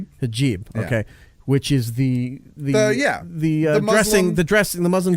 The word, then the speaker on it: hijab: How do you pronounce this? Hijab. Hijab.